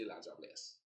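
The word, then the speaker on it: La Diablesse: We say Ladiablesse. We spell it this way too, but we spell it, we spell it just L-A-J-A-B-L-E-S-S-E.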